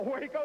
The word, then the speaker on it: Waco: I mean, how do you spell it? Waco. No, Waco, W-A-C-O, Taco, Waco.